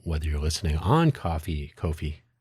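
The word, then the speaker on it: Ko-fi: But anyway, hopefully wherever you found this audio program, whether you're listening on coffee, Kofi, I say Kofi because it's spelled weird.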